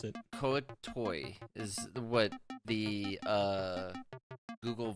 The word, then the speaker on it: Kuo-toa: like that absolutely 100% Forgotten Realms link says it's pronounced kuo Tua I'm not too off